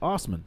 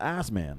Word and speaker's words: Osman: name that's his name it's just pronounced Osman yeah it's Austin not ass man yeah but the way